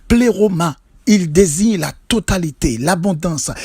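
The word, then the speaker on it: πλήρωμα: En grec, le mot plénitude se prononce pléroma.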